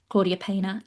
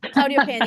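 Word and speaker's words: Claudia Peña: great young talent with Ailia Algudo, Claudia Pa, etc. I said both of those names completely wrong. I do apologize. I absolutely did. I love you so much. Yeah, I I cannot pronounce Claudia. Claudia Pñena and Amalia Argudo.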